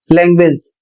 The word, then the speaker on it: language: जैसे शब्द है LANGUAGE, इसमें यू पढ़ा जा रहा है और यू का उच्चारण हो रहा है वह, लैंग्वेज, और इसकी हिंदी होती है भाषा।